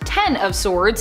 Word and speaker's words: X of Swords: it kind of was X of Swords pronounced ten of swords in real relation to the tarot card is a mutant event